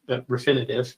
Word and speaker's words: Refinitiv: we have uh that we get from reuters refinitive is the proper way to say that now